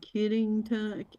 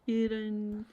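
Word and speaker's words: Kittanning: And Kittington, Kittening.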